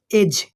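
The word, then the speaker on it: edge: एज, एज सकते हैं, फिर वही देखिए जी के पहले डी, तो मैं जिसको जिसको यहाँ अंडरलाइन कर रहा हूँ वो हमारा क्या है, साइलेंट है, इसको पढ़ना नहीं है।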